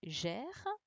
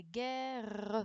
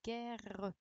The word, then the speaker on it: guerre: Donc là, il fallait faire attention également au GU, sinon ça aurait fait gère. Et puis au 2R. Donc on dit la guerre. Vous voyez, je le prononce bien, la guerre.